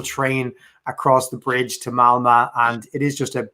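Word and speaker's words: Malmö: from a place called malmo that's the correct pronunciation which uh for those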